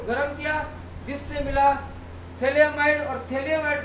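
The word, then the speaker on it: phthalimide: अपन बोलेंगे इसको बोलेंगे थली एमाइड इसको बोलेंगे थली एमाइड प साइलेंट होता है तो इस प्रकार से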